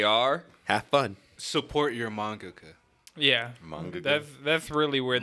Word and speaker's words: mangaka: Support your mangaka.